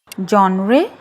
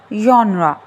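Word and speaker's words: genre: जॉनरे नो इज यन्रा यन्रा next word is comment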